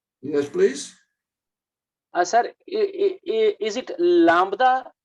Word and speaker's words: lambda: Sir, is it lambda B silent, or we have to pronounce B in it? No, it's almost silent. It's just barely there.